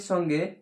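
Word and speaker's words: ثاء: তা উচ্চারণ হবে, দাঁতের মাড়ির ওপর মাড়ির সঙ্গে লাগিয়ে এইভাবে তা। তা। আলিফ বা তা। সা। ছয়াকার ছা নয়, সা। সা উচ্চারণ হবে, জিহ্বাটা ওপর দাঁতের সঙ্গে লাগিয়ে হালকা জিহ্বা বের হবে এরকম।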